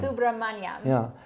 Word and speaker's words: Subramanian: Yeah, so Raj, I hope I pronounced this correctly, Subramanian. Thank you. Subramanian.